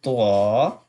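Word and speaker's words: ط: When you touch the tip of your tongue Then you can pronounce twa, twa when maybe the lower side of the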